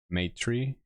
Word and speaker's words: Maitrï: will probably be called M tree that's how it's pronounced and uh it's not a word I made up it's a word um from uh Sanskrit it means benevolence loving